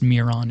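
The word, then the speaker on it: Myron: copy from the sculpture myON I've heard it pronounced Miron as well which is also from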